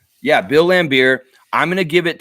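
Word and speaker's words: Bill Laimbeer: here all right yeah bill lambir I'm going to give it to smooth you didn't spell it very well at all it's Bill lamb beer here like you drink and yeah yeah and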